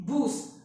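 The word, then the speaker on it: Bus: Again spelling same है, बस pronunciation का डिफरेंस है।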